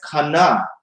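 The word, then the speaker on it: kaneh: If you look at this in the Strong's Concordance, where they spell this as kane rather than cane, they pronounce this as kana, a reed.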